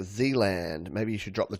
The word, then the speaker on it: Zealand: It sounds like Zealand. Maybe you should drop the two Zs. All right. And I'm assuming it's Zealand, not Zland. I know I'm Australian. We say our Zs a Z. But Zealand.